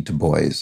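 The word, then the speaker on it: Du Bois: this must be w-e-b to boys i believe is how it's pronounced and works in the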